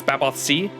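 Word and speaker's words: Baobhan Sith: 2024 I think Babylon says Scottish so the Sith is pronounced C so it's baboth c baboth c 24 that's what I thought 22.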